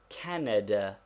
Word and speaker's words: Canada: Take the word Canada. There is a slight stress upon the first syllable but not enough to make it a long vowel. We do not say Canada. Still less Canada. Simply Canada.